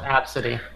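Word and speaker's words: ABCDE: He said there's 30 people that have named their kid A, B, C, D, E, and they pronounce it Absidy.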